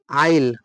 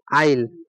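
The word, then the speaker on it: isle: এস এলই মানে হচ্ছে আইল আর এটা হচ্ছে কি এটা হচ্ছে আইল এস এর উচ্চারণ হবে না ঠিক আছে এবার আমরা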